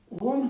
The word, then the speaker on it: Om: That Om is a sound symbol and Om has got 3 letters. You all know that. A, U, Ma. That's what we say. That Ma, as they pronounce it, is not full Ma, it is half. So A is there, U is there, and then So you close your lips.